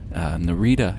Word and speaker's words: Narita: Anyway, here we are landing at Narita Airport, or Narita, if you like pronouncing things with the rolling R sound, as they do in Nippon.